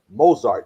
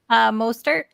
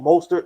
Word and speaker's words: Mostert: The next one, Raheem Mozart. Did I say his last name right? Mostert. Oh, Mostert. Okay, I didn't know how to say his last name.